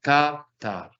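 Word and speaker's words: כָּתַב: Kataf. Recuerde que el acento no marco en la última sílaba. Lo señalo acá, katav.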